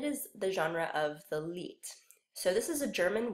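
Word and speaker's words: Lied: before and it is the genre of the leet so this is a German word it's pronounced as though it were spelled le et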